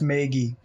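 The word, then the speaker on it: Maegi: the cow yeah so the internet's tell me it's pronounced maggie maggie that's that's fair enough maggie maggie that's the meiji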